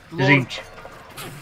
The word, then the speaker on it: Tzeentch: Tzeentch. Tzeentch. I've never been aware of how to pronounce it, to be honest. I pronounce it Tzeentch. I pronounce it with a silent T.